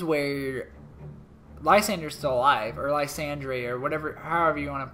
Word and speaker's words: Lysandre: Lysander's still alive, or Lysandre, or whatever, however you want to call I think him. I think his name is pronounced like Lysandre. Lysandre, I'm not sure.